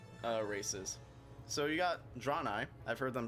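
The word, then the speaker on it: Draenei: races so you got drawn i i've heard them pronounced many times i've always pronounced them drawn eyes so that's how i'm gonna pronounce it uh these are just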